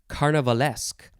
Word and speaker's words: carnivalesque: colors next we have carnivalesque so it's the word carnival with the suffix ask added which is spelled e-s-q-u-e carnivalesque adjective from 1791